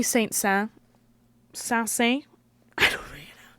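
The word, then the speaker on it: Saint-Saëns: All right, so yesterday we had César Franck, and today we have, Camille Saint-Saens. I never know how to pronounce his freaking name.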